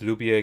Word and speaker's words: lubię: Yes, lubię can be pronounced with e. Yeah, okay. So it feels like when the word ends with that ow, it's Lubię. just like a normal a essentially.